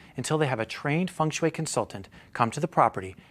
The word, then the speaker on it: feng shui: dialect no in china in mandarin it's uh feng shui no okay in hokkien it's hong sui in tagalog it's pun sui in korea it's pun